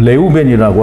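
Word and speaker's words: רְאוּבֵן: 이 히브리 발음을 할 때는 레우벤이라고 하는데요.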